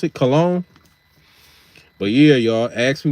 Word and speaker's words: Cologne: That's how you pronounce it, Cologne.